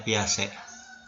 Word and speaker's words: Piaget: Ditulisnya Piaget ya, tapi dibacanya Piaget.